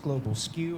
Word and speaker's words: Global SKU: Global SKU, pronounced Global Skew.